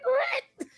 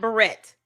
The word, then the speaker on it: beret: Cuz beret is how you pronounce that word. Not barrette. If you are saying that, you've never heard the song.